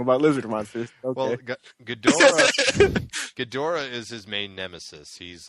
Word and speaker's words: Ghidorah: King Ghidorah, is that how you pronounce that?